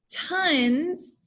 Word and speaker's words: tons: our vowel and so when you say the word tons the o sounds like a u sound so we're going to